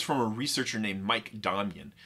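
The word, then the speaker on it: Domjan: researcher named mike damian now that's dominion with a j so if you've only ever seen it written you might be tempted to pronounce it dom jan but now you're one of the cool people who knows how it's properly pronounced in fact i'm strongly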